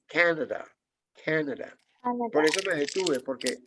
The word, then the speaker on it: Canada: Uno tiende a pronunciar Canadá, pero resulta que el mayor golpe de voz lo lleva aquí. Canada.